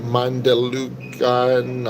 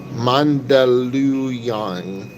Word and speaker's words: Mandaluyong: most of the time, Mandalucan. I'm mispronouncing that. Thanks, Anthony. Jesus loves you too, man. Appreciate it. I love Jesus too. Appreciate that. Thanks for the encouragement. Mandaluyong.